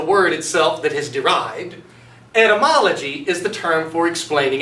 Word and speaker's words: etymology: you the etymology now be sure to pronounce it correctly if you were to say entomology that's the study of insects and that's not what we're talking about let's learn instead we're talking about etymology so the derivative is